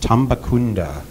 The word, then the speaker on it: Tambacounda: gonna have to tell me, how do you pronounce Tambacounda. It? Tambacounda in Eastern Senegal.